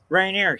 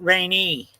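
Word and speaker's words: Rainier: She goes and mispronounces Rineer. She goes and pronounces it Mount Riney. Mount Reine. Told her not once but twice. I said, "Think of the beer like Reineer beer."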